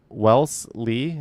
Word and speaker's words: Wellesley: Wellesley. No, you're supposed to say the S like a Z.